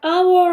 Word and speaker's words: hour: 자 그다음 our 할 때 발음 이게 H 소리 안 나면서 our 몸으로 발음이 되기 때문에 어가 아니라 언는 써야 됩니다.